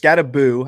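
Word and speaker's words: Skattebo: HN Flowers and a 28 second, or G Willie Scatty Bow and a 28 first. Scattaboo. I've been saying it wrong. Scattaboo, not Bow.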